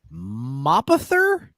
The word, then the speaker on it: Mapother: It's Thomas Cruise Mapother. Wow. Mapother. Mapother. Mapother. Thomas Cruise Mapother the Fourth. Spell it again. M-A-P Map Other. Mapother.